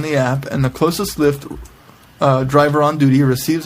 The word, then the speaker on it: Lyft: rare uh there's a ride share Community called lift pronounced like Lyft but spelled with a Y and